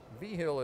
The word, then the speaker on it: Vigil: Vigil is spelled V-I-G-I-L, like vigil. Only Vigil.